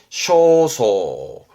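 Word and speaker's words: 焦燥: 발음은 쇼소.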